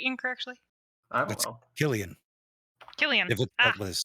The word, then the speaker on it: Cillian: Am I pronouncing that very incorrectly? I don't That's know. Killian.